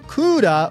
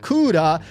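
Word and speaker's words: クーラー: So kura with the long vowel at the end comes from cooler, C-O-O-L-E-R.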